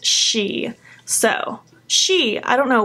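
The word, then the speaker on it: sidhe: shadows the first one it's spelled s idhe but it literally says in the card pronounced she so she I don't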